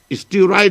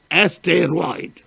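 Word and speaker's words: asteroid: اسٹیرائڈ مت کہہ دیجیے, ایسٹیروائڈ.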